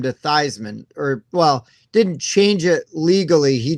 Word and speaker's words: Theismann: At Notre Dame, he changed his name to Theismann, didn't change it legally. He just started telling everybody that it was pronounced Theismann to rhyme with Heisman because it was campaigning to win the Heisman Trophy.